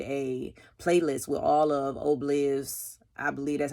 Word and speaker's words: Ohbliv: I heard somebody say it like that on his IG. He posted it. So I'm going to go with that. Even though I thought it was Ohbliv, but I'd be pronouncing stuff a certain kind of way.